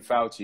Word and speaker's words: Fauci: If you're going to be on the fuck Fauci train, nigga, I need you to spell his name right at least. You're saying fuck Fauci. There's no L in Fauci, dog.